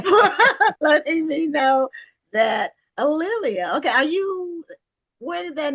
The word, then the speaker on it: A'Lelia: And my name is pronounced Alelia. And one easy way to remember it is that it rhymes with Amelia or Ophelia. There you go. Or Aurelia, but it's Alelia.